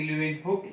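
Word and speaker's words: Leeuwenhoek: और जब living cell की बात होगी तो ल्यूवेन हुक, या फिर इसको प्रोनाउंस करेंगे ल्यूवेन हुक ही प्रोनाउंस करते हैं अपन, ल्यूवेन हुक साहब को नहीं छोड़ सकते हैं।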